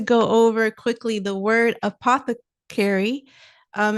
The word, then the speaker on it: apothecary: It's pronounced apothecary. Here's how it breaks down. Uh like the a in sofa. Path like the path in hypothesis.